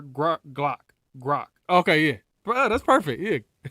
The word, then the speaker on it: Grok: Grok, but that's how you pronounce it.